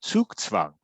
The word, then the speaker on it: Zugzwang: So when you run out of good moves, you're slowly moving towards Zugzwang, right? All right. Can you spell that for us? Yeah, Zugzwang. Zugzwang. And if you know German, it's actually Zugzwang.